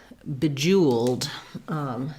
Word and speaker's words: bejeweled: In bejeweled, we have second syllable stress, so the Jew syllable will be stressed. That has that oo sound.